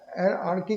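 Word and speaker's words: hierarchy: इसको हम लोग कहते हैं, यहाँ पे लिखो हायरार्की कहते हैं लोग, लेकिन ये एच साइलेंट कर दे तो अच्छा रहेगा, हायरार्की कहते हैं।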